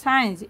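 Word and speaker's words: science: কিছু ওয়ার্ড হল সিন এস সিই এনই সিন সাইলেন্ট লেটার হল সি ঠিক সাইন্স এস সি আই এন সি সাইন্স সাইন্স সাইলেন্ট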